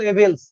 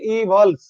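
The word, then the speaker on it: evils: কিন্তু তুমি যত নষ্টের গোড়া, সেক্ষেত্রে কিন্তু দেখেন ইট ইজ ইউ হু আর এট the rule of অল এভিলস। এভিলের কিন্তু প্লুরাল হবে এভলস, উচ্চারণটা কিন্তু হবে ইভলস, ইভল, খারাপ আত্মা, ইভল স্পিরিট।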